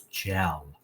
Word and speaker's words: gel: If we look at our rules, when G comes before E, it is soft, okay, and says J like a J. Let's hook the J, and let's read this with soft G. It's gel, like I use gel in my hair, okay?